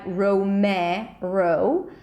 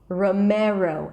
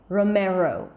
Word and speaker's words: Romero: I wouldn't say something like Romero, but I would turn it into a schwa, Romero, and then close it with a long O sound at the end, not Romero, because you never end a word with O in American English. Since it's at the end, I would turn it into a long O, Romero.